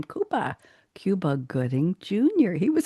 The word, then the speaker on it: Cuba: And there were some backup dancers and one of them was a young and he pronounces his name Koopa Cuba Gooding Jr.